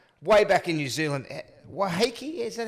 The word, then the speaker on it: Waiheke: Waiheke, is that how you pronounce Waiheke Island?